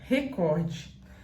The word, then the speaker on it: recorde: e assim é a forma correta de se pronunciar a segunda palavra é recorde essa palavra muitas pessoas erram porque elas acham